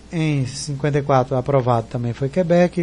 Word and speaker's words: Quebec: 54 aprovado também foi Quebec, e por fim no segundo teste permaneceu como Quebec. Só que a pronúncia é forte, não é o que, é o bec. Então é Quebec, Quebec.